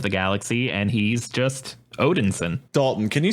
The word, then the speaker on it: Odinson: at the same time where he's just called Odinson okay and that that might be the case